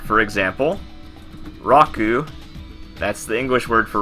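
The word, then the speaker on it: ロック: a double consonant so double consonants are you sort of have like a small pause in between or right before the double consonant or you could just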